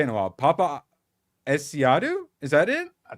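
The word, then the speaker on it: Paapa Essiedu: Papa Esiadu. Is that it? That's how Steph says it. Papa Esiadu.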